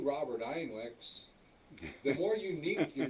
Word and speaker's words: Einweck: So And it's spelled E-I, EINWECK.